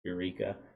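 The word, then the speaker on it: Yreka: So, Eureka with a Y, Y-R-E-K-A. I think it's spelled or pronounced Eureka.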